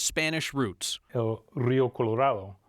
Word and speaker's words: Colorado: Spanish roots Rio Colorado evidence from the 1800s show schools teaching a version that sounds strange to our ears Colorado Colorado will call that the pioneer pronunciation another way of saying our state's name still persists on the plains you can still hear Colorado which is an older version that used to be more popular but there still are